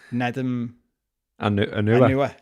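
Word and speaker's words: Nedum Onuoha: No, Nedum Anua. Yeah. That's how you pronounce it.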